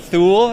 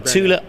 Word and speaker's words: Thule: Tula now regularly mispronounced is that the correct pronunciation uh that is correct yes it is not Thule it is it is Tula yeah tula and a Swedish company yes animals